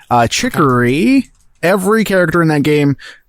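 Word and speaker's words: Chicory: It is Chikory. Uh Chikory.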